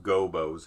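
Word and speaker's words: Gobbos: I was corrected in middle school in that it's pronounced Gobos.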